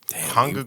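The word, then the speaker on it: 한국: hung so you pronounce the first K like a g yeah well both of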